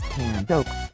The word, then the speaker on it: Tanoak: Pacific region, and it is pronounced Tanoak, like the tree.